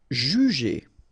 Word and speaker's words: juger: U, but then you don't pronounce it, so phonetically it doesn't exist, and it's brûler. Placer. Juger.